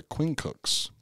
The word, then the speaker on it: quincunx: The maniples were arrayed in a checkerboard pattern called a quincunx, which is another thing that's, yeah, it's hard to pronounce.